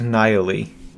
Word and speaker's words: Nihili: pronounced Nihili. Like, as in annihilation.